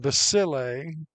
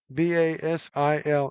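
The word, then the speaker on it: Basile: I keep saying basil. B A S I L E. It's basil is the way the PA guy keeps reminding me. I keep saying it wrong.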